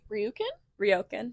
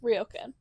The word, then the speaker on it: ryokan: Ryukin? Ryokan. I think that's like how it's spelled. I think that's how it's pronounced.